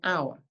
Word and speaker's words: hour: the valve sound we also um we use an for hour so we say an hour and the reason we do that is even though hour starts with an H we don't pronounce